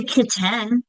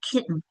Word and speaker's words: kitten: We don't say ken, we say kitten.